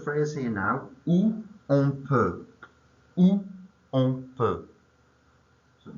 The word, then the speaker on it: peut: Où on peut. Où on peut. So you should have OU, accent on top of the U. O-N, and then per is P-E-U-T. So silent T on the end.